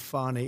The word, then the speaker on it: Fani: She goes by the name of Fani, even though it's F-A-N-I. She wants to pronounce Fani.